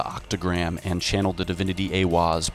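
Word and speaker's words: Aiwass: Aleister Crowley meditated inside the Giza octagram and channeled the divinity Awaz, pronounced Awaz, furthering the immutable connection between channeling divinity and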